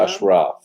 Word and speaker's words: Ashraf: Ashraf is the proper pronunciation.